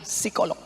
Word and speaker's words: psikolog: Tulisannya psikolog. Bacanya P-nya hilang, psikolog.